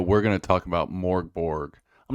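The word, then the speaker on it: Mörk Borg: name of this game I pronounce it morg Borg like the bodies in the morgue Borg because this game is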